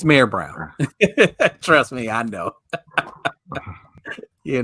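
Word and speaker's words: Mayer Brown: Brown oh look at you it's pronounced it's pronounced May Brown I thought it was May Brown No it's it's mayor it's Mayor Brown trust me I know you know yeah Mayor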